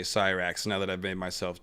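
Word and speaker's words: Syrax: met of course was Cyrax and by the way one of the Dragon Keepers pronounced it um uh sir X so I I've I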